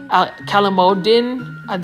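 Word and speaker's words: calamondin: So it's basically calamodin, that's how you pronounce it, but it's basically a Philippine type lime.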